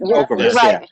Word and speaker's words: Ocrevus: See, I've been hearing nothing but good things about this Ocrevus, but I don't know how to say it. Ocrevus, you're right, Phil.